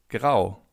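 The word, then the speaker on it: grau: Gray in German means grow. Grow. As you can see in German, if you have the letter A followed by a U, you have an O. So, it's pronounced as in.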